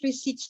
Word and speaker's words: receipt: in simple terms, cash receipts class or cash receipts transactions, this is when the business firm is receiving cash. Okay? In accounting, we call it cash receipt. Now the letter P is silent.